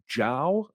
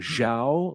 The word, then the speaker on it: Zhao: director's name is chloe zhao and i've been saying zhao like an ignorant american and i saw a